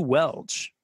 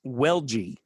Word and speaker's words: Welch: It's pronounced Welgy.